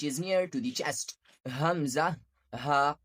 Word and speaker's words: ء: Hamzah, ha. These both letters pronounce from the lower part of the throat, which is near to the chest. Hamzah, ha, sound like release from the heart side.